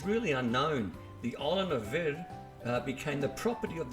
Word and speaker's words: Vir: W Verda castalina lies near the village of V that's spelled v i r on the island of